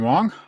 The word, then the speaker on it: Wang: Uh, for those of you looking for the book, his name is spelled with an A, not an O, so it looks like you might want to say it Wang, but it's Wong.